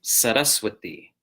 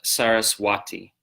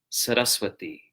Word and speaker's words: Sarasvati: where the stress goes set us with thee okay the V is pronounced like a w more like W to the English speakers here set us with thee okay so now we'll